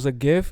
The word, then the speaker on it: GIF: Adam before the episode, and it was a GIF, it was a GIF from the Dreamcatcher movie.